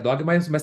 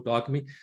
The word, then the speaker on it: Dogme: tá assistindo né que o próprio Thor fala Dogma with a né Porque você escreve com e no final e a gente ouve ele mesmo próprio pronunciar Dog mas também tem que pronunciar é dogme né então tanto faz Dogma ou dogme as duas As duas pronúncias são possíveis e e na verdade